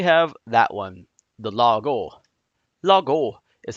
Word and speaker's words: Lago: Lago is how that's pronounced.